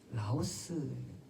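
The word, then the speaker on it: λαός: 디도서 2장 14절에 있는 구절을 원어에서 조금 이렇게 찾아보면 자기 백성이라는 말을 어떤 단어로 표현하냐면 라오스, 어떤 나라 이름하고 똑같죠. 발음이.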